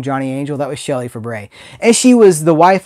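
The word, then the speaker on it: Fabares: That's how you pronounce it. It looks like Faberes, but it's Fabre.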